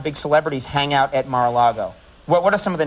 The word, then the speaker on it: Mar-a-Lago: You also have another place, Mar-a-Lago, am I saying it correctly? Yes, it's the home my husband has turned into a private club now.